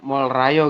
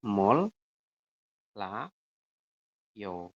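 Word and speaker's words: 몰라요: Jadi dibacanya molrayo tadi tuh. Salah. Yang benar adalah mol la yo seperti ini.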